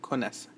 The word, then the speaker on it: connaissent: And as for all il, elle verbs, you never pronounce the ENT. So this one's just il, elle connaissent.